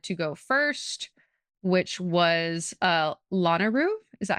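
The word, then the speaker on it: Lanayru: where I decided to go first, which was Lanaru. Is that how you say it? Am I saying that right? Yeah. Lanaru.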